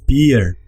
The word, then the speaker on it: peer: Nosotros en español fácilmente podríamos dividirlo aquí, pero no. En holandés esto es un solo sonido, peer.